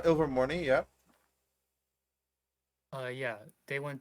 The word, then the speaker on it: Ilvermorny: parents went to uh how do you say over morning mom is that it uh she she says this is it's uh ilvermorny yeah uh yeah they